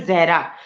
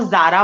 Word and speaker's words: जहरा: Actually मेरा नाम जो है जहरा। तो मोस्टली हम्म, जो नॉन मुस्लिम्स होते हैं वो प्रोनाउंस नहीं कर पाते, वो जारा बोल देते हैं, ठीक है।